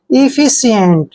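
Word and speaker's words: efficient: हैं इ फी और देखिए सी का उच्चारण हम यहां पर स कर रहे हैं क्योंकि जब भी सी के बाद आई आता है तो सी का उच्चारण स करते हैं ठीक है और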